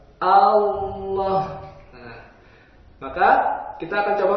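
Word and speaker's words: الله: Maka A-nya tipis, A, lam-nya tebal. Allah.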